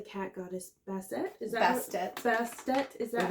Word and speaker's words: Bastet: Is that Bastet? Is that how it's pronounced? Yes. Bastet.